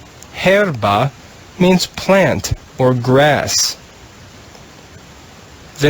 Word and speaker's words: herba: the blue row the first word is two syllables herba means plant or grass the next word in